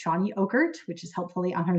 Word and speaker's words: Chany Ockert: And again, her name is pronounced Chany Ockert, which is helpfully on her Zoom.